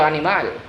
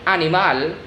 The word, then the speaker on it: animal: the animal or el animal the criminal el criminal the stress word in the last syllable of el animal el criminal it's always